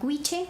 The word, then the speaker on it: Goitse: Le recomiendo un grupo que se llama Guiche, que se escribe Goitse.